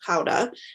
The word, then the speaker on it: Gouda: a Gouda where I said, or the correct pronunciation of this is Gouda.